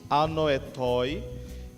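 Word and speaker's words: ἀνόητοι: A lição traz o comentário de que essa palavra insensato é uma palavra grega, que ela pronunciada se diz assim, anoetoi, que vem da palavra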